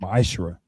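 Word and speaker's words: מעשר: Means 10th in Hebrew and is pronounced ma'ashra.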